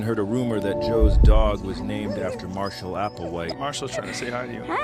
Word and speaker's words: Do: Appawite but his friends called him do which rhymes with Joe don't know if Joe